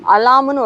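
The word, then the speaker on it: alarm: அலாம்னு ஒரு வார்த்தை எடுத்துக்கோங்க, நம்ம தமிழில் அலாரம் சொல்கிறோம், ஸோ இங்கிலீஷ்லேயே அலாரம் நிறைய பேர் சொல்லுவாங்க, ஆனால் அது கரெக்டான இங்கிலீஷ் உச்சரிப்பு அலாம்.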